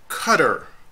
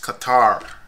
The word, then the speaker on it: Qatar: it out right across the screen most Americans pronounce that word by saying cutter no it's not cutter this is a cutter that word is kuitar it's a country in the Middle East Qatar